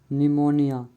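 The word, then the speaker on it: pneumonia: में N silent है P silent N तथा एस के पहले आया हुआ पी पराया साइलेंट होता है जैसे निमोनिया स इन दोनों वर्ड में पी साइलेंट है क्यू साइलेंट क्यू कभी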